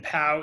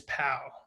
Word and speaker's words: POW: after that um and the pronunciation is pow do not put periods between the letters um don't say p-o-w uh p when people say that i often immediately think of prisoners of war and i cringe a little